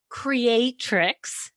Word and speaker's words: creatrix: So you're talking about living as art, living as a creatrix.